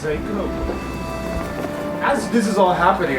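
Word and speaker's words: THAC0: I believe it's pronounced Seiko.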